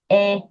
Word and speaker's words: est: est-ce que le restaurant est loin? There's going to be a lot of temptation to say this word differently. Est. That's it. That's it. It's like the first sound of the word egg.